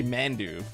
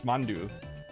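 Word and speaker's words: Mandoo: It's like, you know, people always just say Mandu, right? But it's Mandu. It's more like M-O-N-D-O-O, Mandu, almost like that, right?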